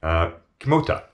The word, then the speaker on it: Kimota: That code word being Kimota, which is phonetically atomic, spelt backwards. K-I-M-O-T-A.